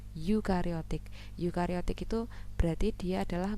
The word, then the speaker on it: eukariotik: Bukan euding, membacanya eukariotik.